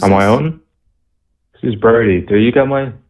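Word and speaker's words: Brodie: man hey who's on my own this is brody do you got mine do you get my name bernie or birdy oh brody b-r-o-d-i-e b-r-o b-b-r-o oh brody okay brody that's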